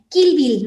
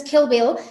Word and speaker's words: Kill Bill: Porque esta I se tiene que pronunciar entre la I y la E. Y suena muy diferente. O sea, si tú escuchas Kill Bill y escuchas Kill Bill, escuchas aquí, la primera es español y la segunda es inglés, ¿no?